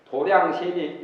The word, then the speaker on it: 도량: 또 부처님 세계의 티끌수인 도량신이 있으니, 도량신이란 절의 도량이라고 그러죠. 절도 도량이고 공부하는 곳도 도량이라고 하고, 태권도나 당수도 하는 데는 도장이라고 그러죠. 도장인데 그 절에서는 도장을 도량이라고 이렇게 발음을 합니다.